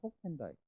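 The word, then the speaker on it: Hoekendijk: 그다음에 요한에서 이제 훅펜다이크라는 건데 정확한 말은 호펜다이크 발음해야 될 것 같아요.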